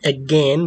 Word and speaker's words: again: وقلنا كلمة again بتنطق زي كلمة أذان again.